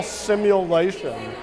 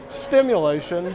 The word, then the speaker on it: simulation: and charged with something called criminal simulation, except that the cops kept pronouncing it stimulation, which is its own interesting story.